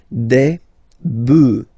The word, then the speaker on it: bœufs: just add this s, but then pronunciation changes quite much, because you get des bœufs, all right? Un bœuf, des bœufs, all right?